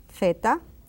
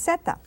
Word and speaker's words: zeta: And the Z, theta, and could be zeta. For me, it's zeta.